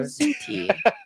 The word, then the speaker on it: Pizzuti: She's like Pizzuti. Pizzuti. Oh, okay, yeah. I don't think that's Suzuki, right. is that what you're trying to say? Pizzuti. It rhymes with snooty.